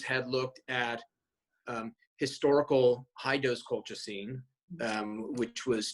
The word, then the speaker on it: colchicine: And I guess over the last couple of years, I've written about, and I think it's pronounced colchicine.